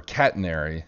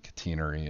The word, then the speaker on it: catenary: the uh cutinery uh or catenary depending on your pronunciation in the english so i think british people say catenary and american mathematicians say catenary but anyway this is